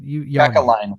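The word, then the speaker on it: Kekäläinen: that Blue Jackets GM Jarmo Kekalainen, I can't pronounce his name, but Kekalainen, you had it right.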